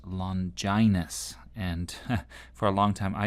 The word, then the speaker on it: Longinus: So as you may have heard, his name is pronounced "Londjainus." For a long time i used to say "Long Ginus." But I gather that's actually incorrect, so "Londjainus."